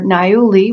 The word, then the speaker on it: niaouli: oils I want to talk about today are nayuli which is spelled n-i-a-o-u-l-i it's also um given the acronym